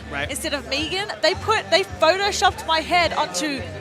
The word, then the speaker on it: Megan: For me, because they kept pronouncing it Megan instead of Megan, they photoshopped my head onto the Walking Dead character Negan on his body, and they put it up.